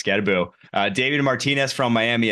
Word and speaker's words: Skattebo: miss I have Cam scabbo at five scabo excuse me I did I I butchered it last week it's scaboo uh David Martinez from